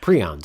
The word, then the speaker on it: prion: In that episode, I talk about prions or prions. It depends on how you pronounce them. Some say prion, some say prion.